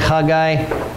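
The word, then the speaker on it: Haggai: of time of the last prophets people like hagai that's how you say it now look really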